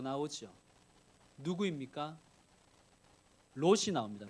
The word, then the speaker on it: 롯: 그러다가 결국 롯같이 되는 거예요. 발음을 주의하셔야 됩니다. 롯과 같이 되는 것입니다.